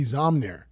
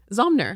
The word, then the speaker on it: Zomnir: Oh my God, you said it right. Zomnir. Zomnir, Yeah. good. Yeah. Good. I was nervous before I got... I know. It's a tricky name because there's the M and the N together, and it kind of